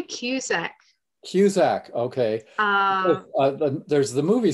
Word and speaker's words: Cusack: Cusack, and I'm not even sure, am I pronouncing it correctly? Well, we say Cusack.